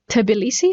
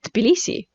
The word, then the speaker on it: Tbilisi: i would just say tbilisi so you see there is no pause there is no extra sound so interesting right so